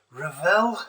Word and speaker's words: Revell: and welcome to my unboxing of this uh revel as it's pronounced technic uh dakar rc truck um i